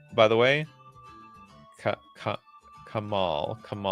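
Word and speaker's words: Kamahl: Kamal. How do you even pronounce the H?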